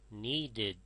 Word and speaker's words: needed: If the verb ends in t or d, when you add ed, it is pronounced id. Wait, waited. Need, needed.